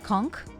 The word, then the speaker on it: conch: the word conch and I didn't know that you pronounced the n and I thought that you pronounced H as a k conch no no one wait